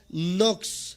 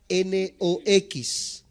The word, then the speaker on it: Knox: primero de estos grandes hombres se llama Juan nox se escribe K n o x kn n o x Juan nox y él